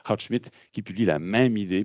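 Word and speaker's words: Goudsmit: C'est Uhlenbeck et Houtsmit, ou Houtsmit, je devrais dire si je prononce mon néerlandais correctement, Houtsmit, qui publie la même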